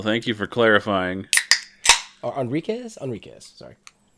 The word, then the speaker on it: Enriquez: But his voice by Daryl Enrique. Well, thank you for clarifying. Enriquez? Enriquez, sorry. It's spelled Enrique, but then it's apparently spelled differently here.